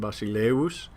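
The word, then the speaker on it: βασιλεύς: Remember, it's a W sound, basileus.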